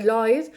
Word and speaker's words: Lloyd: un grupo económico inglés, se escribe Lloyd, se dice Lloyd, en Londres entre 1779 y 1986, que parece más una fábrica de automóviles que una compañía de seguros.